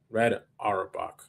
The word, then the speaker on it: Red Auerbach: Red Auerbach. Red Auerbach. Okay, that's how you said it. Red Auerbach. Okay. Yeah, that's how you pronounce it.